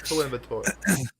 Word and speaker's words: Coimbatore: And I pronounced that correctly. Don't worry. Coimbatore. It's Coimbatore.